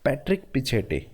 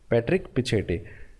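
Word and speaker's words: Patrick Pichette: Next आपको दिख रहा है पैट्रिक, इसको बोलिएगा ऐसे, प्रोनाउंसिएशन ही ऐसे करनी है, मैं आपको बोल के ऐसे बता रहा हूँ ताकि आपको याद रह जाए। पैट्रिक पिछेटे, पैट्रिक पिछेटे ट्विटर के चेयरमैन बन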